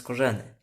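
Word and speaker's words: Skorzeny: No mirzynski mówi że powinno się to nazwisko wymawiać korzenny teraz oczy kolwiek na nich większość ludzi łowisko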